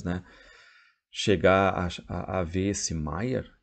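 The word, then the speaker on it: Meyer: o que eu digo o senhor Maia Mayer corrigir o alemão apoiando com força na última sílaba maior Tá bom a gente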